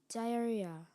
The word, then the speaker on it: diarrhea: Diarrhea. Am I pronouncing it correctly? You are. Diarrhea.